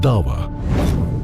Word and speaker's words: dawa: Ayan Hi Ali, author of the challenge of dawa and a vocal critic of radical Islam highlights the fundamental role of dawa, the Islamic practice of procelitizing.